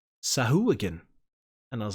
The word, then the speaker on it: Sahuagin: Well, I played the like soundbite on D&D Beyond to see how you say it, and apparently it's Sahuagin.